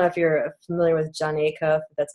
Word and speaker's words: Acuff: I don't know if you're familiar with Jon Acuff that's how you say his name then he